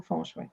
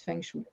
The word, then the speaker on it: feng shui: Oui, fait que c'est la bonne prononciation, Feng Shui. Il y a encore beaucoup de gens qui disent Feng Shui.